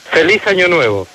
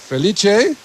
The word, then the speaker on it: Feliz Año Nuevo: Feliz Año Nuevo. Felice? Feliz Año Nuevo. Feliz Año Nuevo. Yeah, that's very correct.